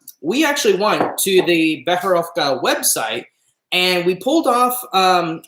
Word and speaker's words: Becherovka: And the way that you pronounce it is Becherovka. Becherovka, okay? Absolutely.